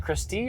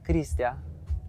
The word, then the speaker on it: Christia: Is it Christy or Christia? Christia. Okay. All right. Please pronounce it like that.